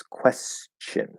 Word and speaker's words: question: of weird um how the word question is supposed to be pronounced as question question with a ch if i am being